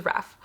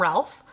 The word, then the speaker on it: Ralph: I did not know it was Raph. I spent the entire video calling him Ralph, because that's what I thought his name was, but no, it's Raph.